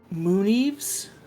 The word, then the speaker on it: Mooneves: Mooneves. Moon-Eve? Yeah, just like it's spelled, like an eaves of moon.